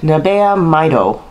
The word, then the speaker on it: Nabeya Maido: called nabeya i know how to say it nabeya maido it's pretty much nabe japanese nape if you